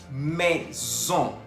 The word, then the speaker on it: maison: Maison. Maison. Se escribe M-A-I-S-O-N. Tenemos la presencia de la A-I que se pronuncia E y la O-N que se pronuncia ON. Por eso decimos maison. Auto.